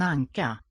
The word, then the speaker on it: anka: Two sinking, sort of falling gestures in the tone.